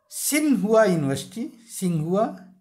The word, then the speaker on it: Tsinghua: सिंहुआ university. अब सिंहुआ की spelling आप लोग ध्यान रखिएगा, TSINGHUA।